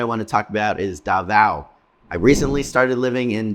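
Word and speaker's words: Davao: to talk about is Dava I recently started Living in Dava I keep wanting to pronounce it Dava but people here keep telling me it's da so I got to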